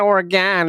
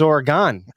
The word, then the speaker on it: Oregon: like, it's not Oregon, it's Oregon. I'm like, bullshit. There's an O right there. It's Oregon.